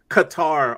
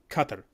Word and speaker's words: Qatar: of this place so if you go by how it's pronounced in Arabic it's Qatar and the closest thing Americanized to it is Qatar uh a lot of people are saying cutter because it sounds close